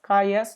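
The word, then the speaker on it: cujus: it there okay uh kaja's or uh uh you can also pronounce as kayas or whatever okay kaja's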